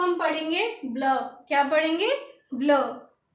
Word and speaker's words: bleu: तो ब्लू को हम पढ़ेंगे ब्लू। क्या पढ़ेंगे? ब्लू। तो इसकी प्रोनाउंसिएशन लिखेंगे BLEUH और इसको लिखेंगे BLEU और इसको हम पढ़ेंगे ब्लू।